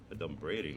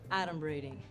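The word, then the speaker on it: adumbrating: this look at this 38 points for me a dumb braiding that's not even a word okay first of all it's pronounced Adam Brady and it means pretending foreshadowing hmm I guess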